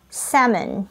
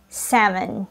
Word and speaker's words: salmon: you pronounce this word salmon salmon yup it is pronounced as salmon look at the IPA symbols it is silent l once again it is pronounces salmon microwaved salmon smoked salmon